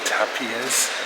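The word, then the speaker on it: Tàpies: eve klein this is my anthony tapias that's the right way to pronounce it and of course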